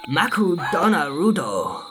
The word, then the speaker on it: Makudonarudo: In Japan, McDonald's is pronounced Makudonarudo.